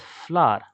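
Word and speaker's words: FLWOR: We will pronounce this word as flour.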